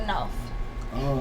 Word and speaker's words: Nawf: You gotta say it right. The Nawf. I haven't been practicing. Come on, you gotta practice. We gotta get this in. The Nawf. Open the mouth.